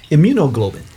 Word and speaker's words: immunoglobulin: per week had more immunoglobulin or globulin. I don't know how you pronounce it. I don't know if it's glow or glob. What you think? Immunoglobulin. Okay, immunoglobulin. Thank you. Mm-hmm. Immunoglobulin. Like hemoglobin.